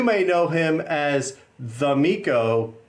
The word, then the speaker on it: Mico: know him as the Mico, but that's not how you say it. How do you actually say that, even though that's what we all say? It's actually called Mico, but I signed it wrongly once.